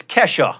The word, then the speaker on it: Kesha: Kesha it turns out I was mispronouncing the dollar sign it's Kesha it's Nile horin not